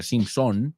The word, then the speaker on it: Simpson: Was the main character of The Simpsons, que no se pronuncia Simpson, sino Simpson, como pecado, sin, Simpson.